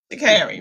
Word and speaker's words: Sha'Carri: Sha'Carri, right?